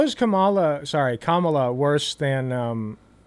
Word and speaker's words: Kamala: learned he's mispronouncing it I was pronouncing it Kamala it's pronounced Kamala dumbass it's in I'm sort of branding Pokemon